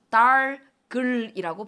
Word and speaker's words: 닭을: 예를 들면, 닭을 먹었어 할 때 닭을이라고 해야 될까? 달글이라고 해야 될까? 이제는 다들 잘 알기 때문에 모음으로 시작하는 형식 형태소가 뒤따라 붙으면 어떻게 해요? 연음시켜서 달글이라고 발음해. 달글 먹었어. 이게 표준 발음이야 라는 거 잘 아시거든요.